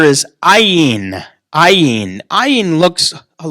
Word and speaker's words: ayin: the next letter is ayin ayin i in looks a little bit like a y but the bottom of it just goes over okay that's the letter i in is a silent letter and if it's in